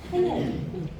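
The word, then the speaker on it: ptyalin: 이 영어로 PY알린 이렇게 쓰거든요. 그래서 뿌띠알린 이렇게 읽었는데 영국식, 미국식으로 이게 묵음이고 타이알린. 그래서 다 뒤져봐도 뿌띠알린이라고 명명한 데는 한 군데도 없더라고요. 그래서 바뀌었어요, 올해. 타이알린. 뿌띠알린 아니고 타이알린.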